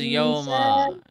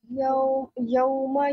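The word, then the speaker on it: يَوْمَ: What is Yoma?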